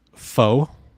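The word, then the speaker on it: pho: Canada uh then there's foe or Poe however you pronounce that p-h-o PHA okay um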